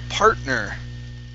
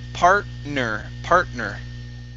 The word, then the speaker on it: partner: Let's go to the word partner. Okay, right here. Partner. Okay, R is pronounced, right? Partner. Yeah, partner. Both of the R's are pronounced. Partner. Okay. But the T is not pronounced. T is silent.